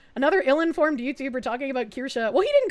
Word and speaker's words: Kirsche: Her name is pronounced Kirsche.